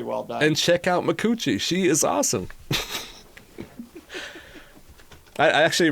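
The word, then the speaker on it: Micucci: And she was talking to Conan, and she's like, yeah, my name actually is pronounced Mikuchi.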